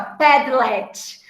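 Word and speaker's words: Padlet: assim ó pede LED as pessoas falam pronunciam que essa é a pé delete mas como eu sou mais simplona eu chamo de pé de LED tá esse pé delete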